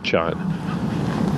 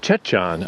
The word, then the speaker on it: Jecheon: getting this wrong but the way they pronounced it was more like Chon so that's one of